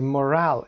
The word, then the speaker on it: morale: The morale in an office. Morale یعنی روحیه. یه فاکتور مهم هست. Morale رو به این شکل تلفظ بکنید. ای رو هم تلفظ نکنید.